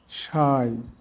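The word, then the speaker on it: sigh: না ইংলিশ ওয়ার্ডে আই এর পর জিএইচ এর উচ্চারণ হয় না। যেমন হাই থাই সাই দো প্লাও নে বাও এবার আমরা অর্থগুলো দেখি।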